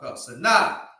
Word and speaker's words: Sinai: Sinai.